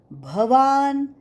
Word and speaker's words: भवान: कृप समितीजय अश्वत्थामाविकर्ण सदतीतव भवान बहुत लोग भ की जगह ब का उच्चारण करते है भगवान वाच भवान ब नाही भवान भवान भीष्म भवान भीष्म